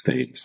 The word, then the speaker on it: Thames: saying like how do we pronounce is it thames and it was like i thought it was 10 minutes i missed an opportunity to tell you yes it's it's things i definitely thought it was teens i knew